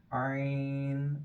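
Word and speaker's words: ع: is the same next Iron make sure you pronounce iron from the throat hell and from the middle part of the throat iron and next is also Irene and this is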